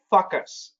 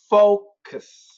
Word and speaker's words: focus: A lot of students say fuck us. Don't do that. Get that O really strong. Focus.